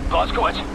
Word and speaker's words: Blazkowicz: It doesn't sound right in English. Say it correctly. Blazkowicz, hate to pile it on, mate, but we're in the weeds over here.